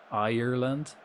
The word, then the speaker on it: Ireland: Ireland. Ireland. But there's only two syllables. R like a pirate like R. R. Like that.